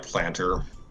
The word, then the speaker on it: Plantar: okay next is sprig plantar or planter I it's it's spelled with an a pronounce more like planter okay this Source also